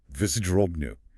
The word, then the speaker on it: вздрогну: Vzdrognu. See, you're building it up from the end, syllable by syllable or sound by sound.